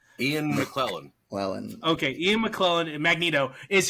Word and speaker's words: Ian McKellen: So Ian McKellen, how do you pronounce his name? Ian McKellen.